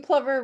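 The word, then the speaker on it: plover: it look at this piping plumber rhymes with lover for a reason right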